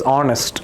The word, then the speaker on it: honest: Because h is silent. It is honest.